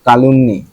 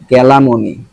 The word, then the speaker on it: calumny: হ্যাঁ, liable, liable বা smear বা কালুমনি, কালামনি, কালুমনি, কালুমনি, কালুমনি, কালা, ক্যালামনি, আরে ভাই ক্যালামনি, ক্যালামনি। দেখেন উচ্চারণ CALUMNY, এটা ক্যালামনি কেমনে হয় দেখছেন।